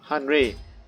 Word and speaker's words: Henri: Henry, or Henri as they pronounce it in the French.